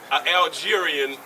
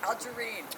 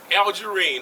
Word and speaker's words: Algerine: Commission, and he is how y'all pronounce that, Councilman? Algerian as well. As a what? Algerine. Algerine. I stand corrected, Madam Mayor. Me too. Algerine, yes.